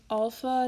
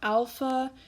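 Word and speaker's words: ἄλφα: Notice that I'm saying alpha, not alpha. That's because that's how it's pronounced. I know that in sort of modern times, people tend to say alpha, but if you want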